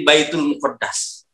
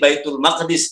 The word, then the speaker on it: Baitul Maqdis: Al yang dikata albait jadi Baitul muqaddas padahal itu salah kalau enggak ada Al di kata bait jadi Baitul Maqdis dibacanya sama dengan Masjidil